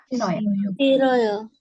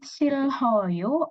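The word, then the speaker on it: 싫어요: Bacanya siroyo. Jadi bacanya siroyo langsung, bukan silhoyo atau siloyo, tapi siroyo. Jadi pakai R ya.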